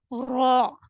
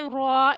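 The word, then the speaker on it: ر: When your tip of the tongue touches the upper hard palate, you will be able to say lam, noon, and ra. While you have to say ra, it will be heavier or full mouth.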